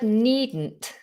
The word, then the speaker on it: needn't: release the pressure okay with the word needn't needn't we're not releasing it in the same way as we normally would we're holding the tongue need needn't needn't and we're almost allowing the explosion to happen backwards or sidewards i wouldn't worry about